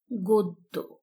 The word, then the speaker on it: গদ্য: জ ফালা থাকে তাহলে সেই অ এর উচ্চারণ কি হবে ও এর মত হবে শিক্ষার্থী বন্ধুরা আমরা লক্ষ্য করি উদাহরণ এখানে লেখা রয়েছে গদ্য কিন্তু সঠিক উচ্চারণ হচ্ছে গদ্য গ তারপরে অ আছে